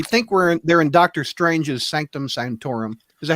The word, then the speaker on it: Sanctum Sanctorum: We think they're in Doctor Strange's Sanctum Sanctorum.